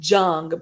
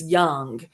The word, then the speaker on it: Jung: Look up, it's spelt Carl Jung, but that's not how it's pronounced. It's Young. It's pronounced Young.